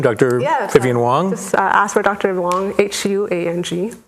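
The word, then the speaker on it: Huang: uh just giving your your name doctor vivian wong ask for doctor long h-u-a-n-g um and then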